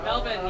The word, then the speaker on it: Melbourne: Melbourne, yes. Where? The R is silent.